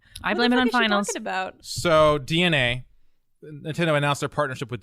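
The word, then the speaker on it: DeNA: the answer this one it's actually DNA oh what the yeah it's DNA why would you why would you print it like that if it was meant to be pronounced DNA I I think I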